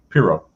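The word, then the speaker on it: Pyrrho: uh but like p-y-r-r-h-o-n-i-s-m his name was p-y-r-r-h-o i'm not sure how that'd be pronounced exactly piro piro yeah that that's what i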